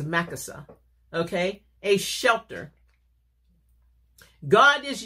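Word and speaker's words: machaseh: M-A-C-H. A-S-E-H, pronounced as Makasa, okay?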